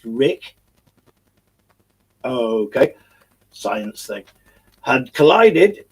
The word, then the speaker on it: RHIC: Now, RHIC, pronounced Rick, okay, science thing, had